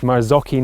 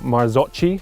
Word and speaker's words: Marzocchi: the comments on the video was that it's pronounced marzocchi not marzocci so thanks for that the second most important